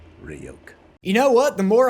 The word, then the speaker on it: Ryuk: written in it Hey kid it's pronounced rayoke you know what the